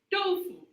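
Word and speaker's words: 豆腐: little bit about our dish tofu is actually pronounced dolphu okay tofu actually uh the name believe it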